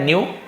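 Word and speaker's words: knew: जानता था है ना के साइलेंट रहेगा न्यू केवल एनई डब न्यू लिख दोगे तो नया हो जाएगा लेकिन के के साथ न्यू है तो इसे जानता था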